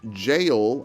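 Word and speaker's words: Gaol: We use it as we move through the Gale. If you want to say it's pronounced jail and not Gale, that's fine.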